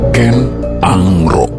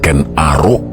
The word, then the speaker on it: Ken Angrok: Ken Angrok. Itulah pengucapan yang benar berdasarkan aksara yang tertera dalam lontar. Bukan Ken Arok yang salah satunya dipopulerkan lewat film tahun 80-an.